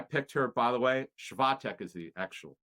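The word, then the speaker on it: Świątek: Swiatek is the actual pronunciation if we want to get right.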